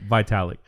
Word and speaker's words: Vitalik: Vitalik.